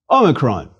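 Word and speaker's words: όμικρον: Omicron is a small O, a micro O, which is to say a short O like the O as in ought, but a shorter, a closed O, as in the British pronunciation of pot.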